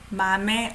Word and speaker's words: 맘의: Past tense adjective, 맘의 얼룩. This is possessive. That's why I pronounce it as 에.